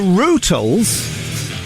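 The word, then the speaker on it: Rutles: Go and learn how to pronounce the Ruttles. Is that okay, mate? Thank you. Dear God. The Rootles, it's silly bands.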